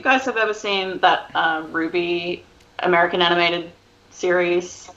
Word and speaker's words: RWBY: Yeah, it's so it's RWBY, but I think it's pronounced Ruby, and it's an anime series, and it's fucking so tits.